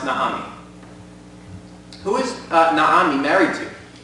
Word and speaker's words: Naomi: Naomi, in Hebrew, it's pronounced Naomi.